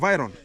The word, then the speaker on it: Vitron: It's called the Viron or the Vitron. Is it called Vitron? Pronunciation. The T is good silent. in English. Yeah, the T is silent. Viron.